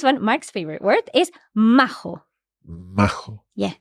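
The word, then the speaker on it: majo: okay so this one Mark's favorite word is mAh yeah M it just means nice a decent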